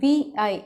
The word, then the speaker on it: Vi: S, Vodafone idea வந்து அவங்க rebrand பண்ணி VI இந்த பேரில் தான் இனிமேல் இந்தியாவில் அவங்க வேலை பார்ப்பாங்க அப்படின்னு தெரியுது.